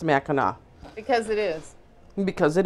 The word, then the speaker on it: Mackinac: way if i have one more person say mackinac to me i'm good are you kidding me yeah all the time it's called mackinac i don't know why i think it's because